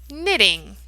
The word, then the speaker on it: knitting: know it it's called knitting knitting that K is silent knitting that's the action that